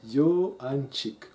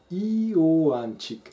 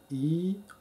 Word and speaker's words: Iohanchik: C'est un ravissement enfantin chaque fois que j'entends prononcer Johanchik, ou plutôt Iohanchik, avec la diphtongue, comme une vaguelette qui pousse les lettres à prendre de l'élan pour s'ouvrir et avancer. Iohanchik.